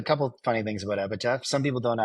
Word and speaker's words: Epitaph: A lot of people call it Epitaph, like a TH at the end instead of a PH.